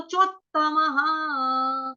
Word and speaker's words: चोत्तमः: या फिर बोला जाता तो चोत्तमः, इस तरह से दबाव डाल के धक्का मार के उसको त को उच्चारण करना आपने, ठीक है।